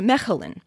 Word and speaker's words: Mechelen: home city is called mechelen the dutch ch is that glottal fricative again when i'm speaking